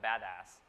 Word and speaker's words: BDAS: analytics stack at UC Berkeley amplab called the badass um if there's only one takeaway today that's how you pronounce this name again there's a lot of